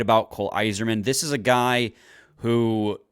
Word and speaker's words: Eiserman: love the kid is his last name is pronounced, even though it's spelled very differently, is pronounced just like Red Wings legend Steve Yzerman. You know, there's a lot of hype surrounding Cole Eiserman, and just to put